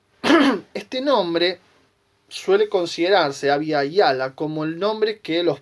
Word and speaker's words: Abya Yala: Pero hay un antecedente más todavía, y es la expresión Abya Yala o Abya Yala o Abya Yala, sería la pronunciación sin nuestro yeyeo rioplatense.